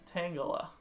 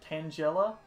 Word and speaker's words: Tangela: It's weird because in Pokemon Stadium 2 they pronounce it Tangela. Hey, it's good to see you're back, Mr. Custard. Yeah, Tangela... What, the announcer pronounces it Tangela? Tangela always made more sense to me because it's, you know, a tangle.